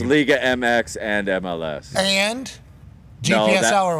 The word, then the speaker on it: Liga MX: it La leag league MX yeah it's it's Liga MX and MLS and gpsl or whatever no that's